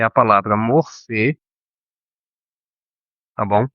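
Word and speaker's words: μορφή: Como eu disse no início, morfologia vem do grego, é a palavra morfê, tá bom? Ou morfê, se você quiser pronunciar mais próximo da palavra grega, com a palavra logia ou logos, tá?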